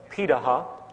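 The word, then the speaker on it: Pirahã: We know this today because of anthropological research done on remaining hunter-gatherer societies around the world, such as the Pidaha, which is how it's pronunciated, out of Brazil.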